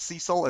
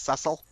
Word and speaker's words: Cecil: It's not Cecil, it's Cecil.